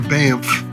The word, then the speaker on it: Banff: Taking the road from Jasper National Park to Banff. Bamp. Which is awful fun to say. Banff. Bamp. One syllable.